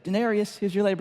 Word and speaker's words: Daenerys: their name and I said it correctly said Denarius who's your lab C they were like he